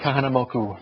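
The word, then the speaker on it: Kahanamoku: K kaham moku I said it correctly Duke kah moku very good you learned how to say the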